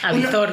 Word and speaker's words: avizor: ojo aisp que bueno aisp no no se dice así pero avizor no es avizor ojo avizor que te